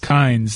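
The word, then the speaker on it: Kines: here that Joe Kine, is it Kine or Kynes, the interim coach at Alabama? Doesn't he spell it with an S? Kynes.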